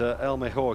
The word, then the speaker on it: El Mejor: race last week, and El Mejor came out on top. I'm going to stick with the Spanish pronunciation, Martin, because I know it means the best, doesn't it?